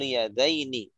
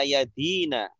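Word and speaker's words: يدين: Nih, ini kan kemungkinannya bisa dibaca yadina. Ya, bisa dibaca yadaini. Kenapa tadi Pak Gunarso bacanya yadaini? Nah, karena ini isim musanna. Kita harus tahu ini musanna. Kalau musanna itu pasti akhirannya kasroh. Aini. Kalau jamak mudzakkar salim, ina.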